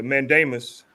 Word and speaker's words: mandamus: Yeah, the mandamus. Am I pronouncing it right?